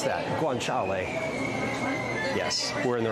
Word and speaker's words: guanciale: How do you pronounce that? Guanciale.